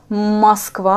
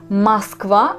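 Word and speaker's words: Москва: oh ça signifie pas que c'est on le prononce comme au masque va avec oh non on les prononce comme masque va mais en l'écrire avec o c'est juste une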